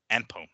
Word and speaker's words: Anpo: not really, exhibition showdown against Japanese kickboxer Rukia Anpo, if I can pronounce that right. His last name is Anpo, A-N-P-O.